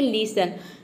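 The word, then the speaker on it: listen: जैसे कि है लिसन लिसन में देखिए टी ई एन एक साथ आया है यहां पे टी साइलेंट रहेगा लिसन मतलब होता है सुनना टी का प्रोनंसिएशन होता है ट तो लिसन में देख सकते हैं ट का साउंड कहीं पे भी नहीं है मतलब कि टी लेटर साइलेंट है अगला वर्ड है ऑफ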